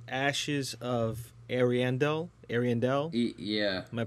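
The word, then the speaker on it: Ariandel: well the DLC is called ashes of arandel Arendelle yeah am I pronouncing that correctly yeah you are I do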